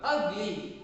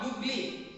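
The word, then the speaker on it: ugly: ಅಗ್ಲಿ ನಾಟ್ ಯುಗ್ಲಿ, ಅಗ್ಲಿ ಅ ಉಚ್ಚಾರ ಆಗುವುದರಿಂದ ಯಾವುದನ್ನ ಬಳಸಬೇಕು, ಆನ್ ಅನ್ನ ಬಳಸಬೇಕು.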